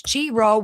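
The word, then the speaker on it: Chi-Rho: It's Chiro, which actually means alpha and omega in Greek.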